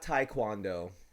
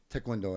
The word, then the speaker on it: Taekwondo: yeah it is not Taekwondo yes there is when I see t-a-e there's nothing in that that makes me think oh it's pronounced I or maybe